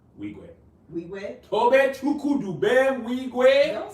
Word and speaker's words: Wigwe: Emmy Ma, And how do you pronounce Toby's last name? Wigwe.